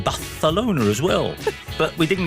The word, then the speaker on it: Barcelona: Because Ajax, and then in the next breath, we heard about Barcelona, which of course should be Barcelona.